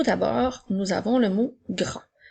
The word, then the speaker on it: grand: Le mot grand commence avec le son G qui s'écrit avec la lettre G, ensuite le son R avec la lettre R et le son AN qui s'écrit A-N-D. La lettre D est une lettre muette.